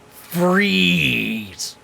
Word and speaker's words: Freeze: And as I say, it's pronounced freeze.